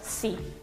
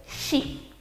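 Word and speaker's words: し: No existe el sonido si. Los japoneses van a decir shi, pero el resto de los sonidos no van a tener ningún tipo de dificultad.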